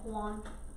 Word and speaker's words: Juan: remember it's pronounced with an H in Spanish. On? Yeah, Juan. Juan. Yeah. It rhymes with Leon.